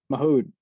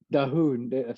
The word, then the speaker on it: Dahoud: No, Mahoud. Oh yeah, dude. Dahoud.